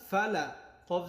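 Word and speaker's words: فلق: ফা, লাম জবর লা, ফালা, কফ জের কি, বি রব্বিল ফালাকি। ওয়াকফ হওয়ার কারণে উচ্চারণটা কেমন হবে দেখেন। কুল আউযু বি রব্বিল ফালাক, ফালাক, এমন কলকলা করে পড়তে হবে।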